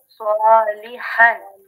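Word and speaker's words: صَالِحًا: তো আমরা যেটা আলোচনা করেছি সেটা হচ্ছে জবরের বাম পাশে যদি খালি আলিফ থাকে তাহলে এক আলিফ টানতে হয়। সলিহান, হ্যাঁ, সলিহান, বলেন তো। সোয়ালিহান।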